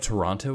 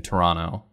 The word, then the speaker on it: Toronto: has told me that if you pronounce the second t in toronto then it marks you as not being from here so i've been trying to train myself into saying toronto but i i still